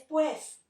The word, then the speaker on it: pues: Perdón, no se dice pus, es pues.